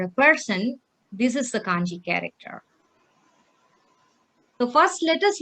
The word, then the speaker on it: 漢字: So Kanji, can you tell me how to pronounce this? 漢字。 Kanji.